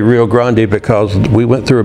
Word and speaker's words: Rio Grande: And you'll notice I say Rio Grande because we went through a big thing in Texas about 25 years ago where, hey, pronounce the words correctly.